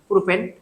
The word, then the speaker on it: প্রোপিন: 3 carbon বিশিষ্ট alkane ছিল কি, প্রোপেন। যেহেতু এটা এলকিন, উচ্চারণ হবে ইন, সেহেতু এটার নাম হচ্ছে প্রোপিন, প্রোপিন।